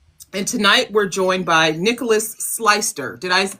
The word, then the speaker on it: Nicolaus Sleister: And tonight we're joined by Nicolaus Sleister. Did I pronounce that correctly?